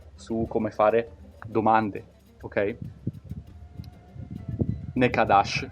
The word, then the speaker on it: ne kadar: Nekadash o Nekadar, ogni tanto la R alla fine la pronunciano un po' come una sh, ad esempio vuol dire quanto costa.